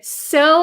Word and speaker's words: sew: knock knock very good so and so are the same pronunciation yes so s-e-w and so have the same exact pronunciation so and so sewing okay